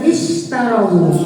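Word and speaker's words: اشتروا: Alladina huruf saudaranya mausul kolom 21 21 artinya orang yang orang-orang yang berikutnya ada istarowu itu bacanya istarowu jadi bukan u bukan as tapi istarowu ya lihatj ketiganya kalau ketiganya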